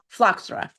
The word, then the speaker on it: phylloxera: How do you pronounce it? Phylloxera.